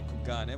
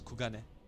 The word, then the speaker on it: Kugane: I don't know why I say Kugane when it's Kugane. It's the, like, speaking English in itself automatically changes the way I pronounce that.